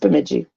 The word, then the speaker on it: Bemidji: Well, it doesn't look like you think it would be pronounced like that. Or something. It looks worse than it really is. Yeah, but it's just Bemidji.